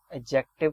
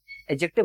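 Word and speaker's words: adjective: Verb को यूज करें एडजेक्टिव के तरीके से, इसको एडजेक्टिव मत बोलना, डी साइलेंट होता है, एडजेक्टिव कहा जाता है। डी साइलेंट होता है, एडजेक्टिव नहीं होता, याद रखना।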